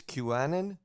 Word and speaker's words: QAnon: because I don't even know how do you pronounce it hello that's Q it's qanan yeah qon qan yeah okay so what Q